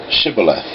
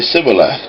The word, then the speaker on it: Shibboleth: If the man said, No, I'm not, they would tell him to say, Shibboleth. If he was from Ephraim, he would say Sibboleth, because people from Ephraim cannot pronounce the word correctly.